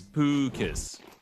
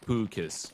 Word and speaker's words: Pukus: Apparently it's Pukus. So it's kind of like there's a double O in there. So it's Pukus. Yeah.